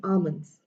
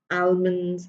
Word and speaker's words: almonds: class here I go this is not almonds or I don't know how you pronounce it as this is almonds it is L is mute over here and you just say alons Okay more like a and then alans not almonds I have heard people